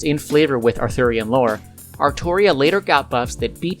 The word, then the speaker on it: Artoria: look like oh yeah the game calls saber by the name of altria because of localization but i don't care and i prefer to pronounce it as artoria long story short it's